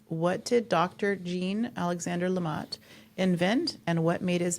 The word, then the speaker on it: LeMat: Now, I took the wrong language in high school and college, so my French pronunciation is probably awful, but I've heard it pronounced LeMat.